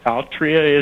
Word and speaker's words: Altria: I understand Philip Morris is now Altria, is it pronounced?